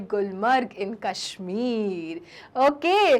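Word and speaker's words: Gulmarg: तो चिल्ड्रन आओ और अब पढ़े हम गुलमर्ग के बारे में। गुलमर्ग, नोन एज गुलमर्ग, क्योंकि हिंदी में आप गुलमर्ग कह रहे हैं, लेकिन चिल्ड्रन कश्मीरी प्रोनाउंसिएशन क्या है? गुलमार्ग, ओके।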